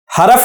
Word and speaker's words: حرف: پر بھی غور کریں، میں نے اسم نہیں پڑھا، اسم سین ساکن ہے، فعل عین ساکن ہے، حرف نہیں، را پر زبر نہیں ہے بلکہ را ساکن ہے۔ حرف، تلفظ کا درست